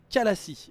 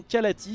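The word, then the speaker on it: Khalai: C'est tout simplement ce qu'on appelle comme étant l'intercession Kalassi, voilà, ou l'intercession Kalati, si vous voulez le prononcer à la française, les Protoss qui, en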